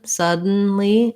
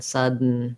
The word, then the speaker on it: sudden: so sudden suddenly um just practice trying to do the dun dun without releasing your d just go release right into the n sudden sudden it's almost like the d isn't really there so much um that's a tough